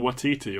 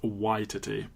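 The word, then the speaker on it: Waititi: intro for the film I've been saying what TT all these years it's YT but if I slept and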